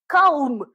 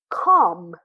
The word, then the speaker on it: calm: everybody tries to say come no it is a small or English spelling that if L goes before M we don't usually pronounce it so we say come are you calm right now are you